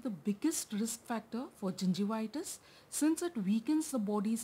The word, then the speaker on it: gingivitis: Remember I told you, gum disease or the periodontal disease includes both gingivitis and periodontitis. So first, let's learn how to pronounce gingivitis and periodontitis.